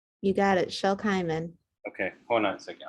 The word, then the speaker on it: Shel Kimen: Is it, and I'm pronouncing it correctly? You got it, Shel Kimen.